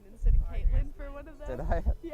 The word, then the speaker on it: Caitlin: Griffin, you butchered everyone. You said Catlin instead of Caitlin for one of them.